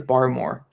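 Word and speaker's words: Barmore: gonna christian bar or bear more bar more i think i i think it's bar more is how you say it yeah bar i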